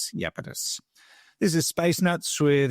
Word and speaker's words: Iapetus: It starts with an I. It's spelled Iapetus, Iapetus.